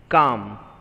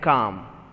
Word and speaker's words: calm: Calm. So L is not to be pronounced, it is silent. CAM, calm.